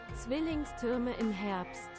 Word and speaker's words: Zwillingstürme im Herbst: That's Zwillingstrom in the Herbst. I think that's how you pronounce it. Spare parts. How do you pronounce it? You pronounce it like Zwillingstürme im Herbst.